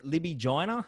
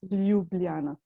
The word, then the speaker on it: Ljubljana: it's without the j's j is pronounced as y in slovenian language so that is why it's lubliana so if you put